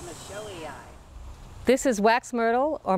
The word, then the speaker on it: michelii: And Dave Garden, Botanical Pronunciation Guide, agrees. It's Michelii.